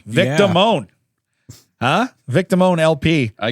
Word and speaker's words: Damone: It's Damon with an E. Vic Damone.